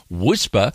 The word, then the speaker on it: WSPR: a whisper transmitter in zl wspr pronounced whisper stands for weak signal